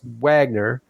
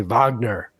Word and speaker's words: Wagner: Perry, in the USA, my name is pronounced Wagner, but I'm fishing in Germany, they say Wagner. Either is acceptable, and I must say